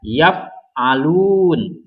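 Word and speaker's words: يَفْعَلُونَ: Jadi dibaca yaf'alun. Nah, karena waw ini ada tanda baca sukun, jadi lam ini, lun ini dibacanya agak panjang ya.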